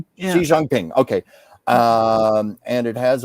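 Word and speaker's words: Xi Jinping: with the Chinese president uh with am I pronouncing this right? Xi Jangping Xi Jangping.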